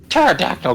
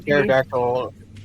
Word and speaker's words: pterodactyl: Pterodactyl guano is very loud, but the P is silent.